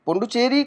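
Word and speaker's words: Puducherry: पुंडुचेरी, पुंडुचेरी को हम जो बोलते हैं वो पुंडुचेरी बोलते हैं, लेकिन इसकी जो स्पेलिंग बनती है वो बनती है पौंडीचेरी, पौंडीचेरी, PONDICHERRY, पौंडीचेरी, PONDI, पौंडीचेरी।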